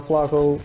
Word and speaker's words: Flaco: Like, some people can't even pronounce Flaco. They say Flaco. It's like, Mitch, it's Spanish.